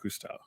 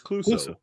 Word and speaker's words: Clouseau: would say it's Jacques Cousteau. Yeah, Jacques Clouseau. Jacques. I'm saying his name wrong. It's Clouseau. Clouseau.